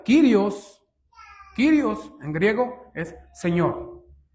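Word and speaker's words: κύριος: Esta proviene del griego, hermanos, que se pronuncia Kirios.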